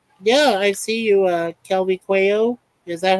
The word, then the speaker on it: Quayo: Yeah, I see you, Kelby Quayo. Is that how it's pronounced, Quayo?